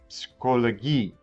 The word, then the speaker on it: Psychologie: The PS sound. P followed by S. There's no silent P in German. Psychologie.